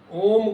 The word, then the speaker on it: ओम: हमें ओम का उच्चारण करना चाहिए। ओम का उच्चारण कैसे करें? ओ, उ, म ये तीन अक्षर जो बोले जाते हैं इनको एक लिमिट से एक लंबाई से बोला जाता है।